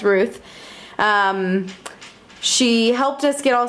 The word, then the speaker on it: Rut: Our host was Ruth. I kept calling her Rut because her name is spelled R-U-T, but I realized now it's Ruth.